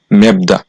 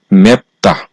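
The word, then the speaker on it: 맵다: বাচ্চিমের পরে আছে দ্বিগুত এই শব্দটার উচ্চারণ হওয়ার কথা ছিল মেপদা কিন্তু যেহেতু বাচ্চিমে বিউপ আছে আর বিউবামের পরে যেহেতু দ্বিগুত আছে এইজন্য বিউপ বাচ্চিমের পরে বিউপ বাচ্চিম তথা পশ্চিম পশ্চিমের পরে যদি দ্বিগুত থাকে তাহলে সেই দ্বিগুতটা সাংবিগুত হয়ে যাবে এইজন্য এই শব্দ সঠিক উচ্চারণ হবে ম্যাপতা একক বাচ্চিমের রুলস গুলো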